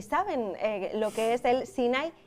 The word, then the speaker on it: SINAI: Y que efectivamente no tiene acento en la I, por lo tanto no es Sinaí, sino Sinai.